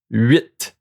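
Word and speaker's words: huit: 8, okay, these one, you pronounce the T at the end. 8, 8.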